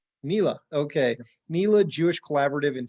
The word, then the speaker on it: NELA: The abbreviation is Northeast LA, but we go by NELA. NELA, okay.